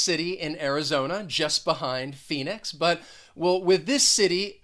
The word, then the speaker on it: Phoenix: on the first syllable that ph is going to be pronounced as an f which is it's pretty